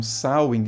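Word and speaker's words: Samhain: E a pronúncia é essa mesmo, Sain, apesar de escrever dessa forma que tá aparecendo aí na tela.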